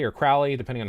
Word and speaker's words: Crowley: Now, Aleister Crowley, or Crowley, depending on how it's pronounced, he has his Book of the Law, which is Ergi.